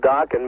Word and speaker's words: Dokken: Plus, Dokken rhymes with rockin', What more can you ask for?